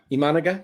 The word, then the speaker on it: Imanaga: IM managa imaga come on that's easy IMA imanaga imanaga imanaga there we go IM come on